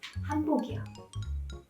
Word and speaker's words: 한복: 저는 니은 발음을 정확하게 한 거고 처음에 제가 편안하게 말씀드릴 때 한복 입었어요 할 때는 미음 발음이 들어간 겁니다.